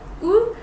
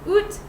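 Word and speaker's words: août: In Quebec, we pronounce it U, but I know in some other places they pronounce it oot.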